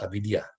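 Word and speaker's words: अविद्या: In Sanskrit, that word is pronounced avidya. So avijja, avidya.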